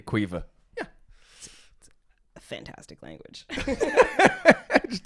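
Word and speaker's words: Caoimhe: is spelled n-i-a-m-h and cueva is c-a-o-i-m-h-e of course it is quite clearly quiver a fantastic language it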